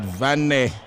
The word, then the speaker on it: Vanne: V-A-N-N-N-E. You like to pronounce that Vanne.